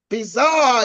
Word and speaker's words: bizarre: the French language now normally the French pronounce it differently they say a situation is actually bizar they say situation is bizar to mean it's strange